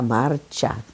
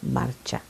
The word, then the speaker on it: Marcia: They said, oh no, her name is Maria Marcia, because that's the way you pronounce it in Italian, because C-I is the C-H sound, Marcia, Maria Marcia.